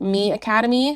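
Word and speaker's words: MiAcademy: we have experimented with me Academy which is spelled Mi Academy um I Heard rave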